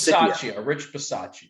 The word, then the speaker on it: Bisaccia: Rich Bisaccia. Bisaccia or Bisaccia? Bisaccia. It's Bisaccia, not Bisaccia. Okay, yes, with the pronunciation.